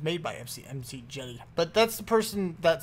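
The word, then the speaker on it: McJty: MC Jetty. he's great. I like rftools is really awesome. I like it. Apparently, yeah, it's a thing. So, anyway, I don't even know if it's made by MC Jetty, but that's the person that said it.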